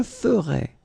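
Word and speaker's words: ferais: Je ferai des économies. So you can see that you write them differently, but then phonetically they are exactly the same.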